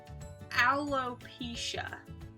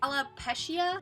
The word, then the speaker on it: alopecia: to pronounce alopecia wrong alopecia pretty simple you just read it straight through I can't tell you how many times I've heard people say I love pescia aloe alopecia alopecia bulopikia